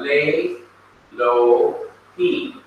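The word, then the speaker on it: לֵאלֹהִים: So there is no pronunciation of the vowel underneath Aleph. So what you end up having is lay, and you bypass this, you don't pronounce it, you go straight to Lamed over here. You have lay, lo, he, meaning to God. Lay, lo, he. Notice that Aleph is always silent or quiet.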